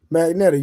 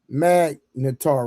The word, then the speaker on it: Magnetar: But Magnet, you know it's pronounced Magnetar, right?